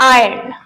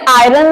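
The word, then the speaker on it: iron: उसे हम बोलते हैं आयन आयन इसे आयरन नहीं बोलते क्योंकि आयरन का मतलब होता है लोहा स इसे आयन बोलना है नेक्स्ट है चिमनी जो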